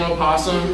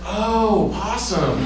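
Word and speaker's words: opossum: me um that's because you're mispronouncing a possum it's oh posum it's still the same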